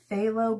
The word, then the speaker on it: phthalo: It started with a ph. So, I'm going to say that as an f, a f. It was like phthalo blue or blue or something like that.